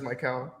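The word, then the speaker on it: Mykal: again all right my middle name's but it's spelled m-y-k-a-l so you could say like or so everybody just says my cow yes I don't know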